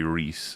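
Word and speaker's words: Rhys: it both ways so but Reese is definitively Reese. It's a Yes. John Reese Davies Gimly don't worry you will forget and you'll instinctually call him Rise and it's okay.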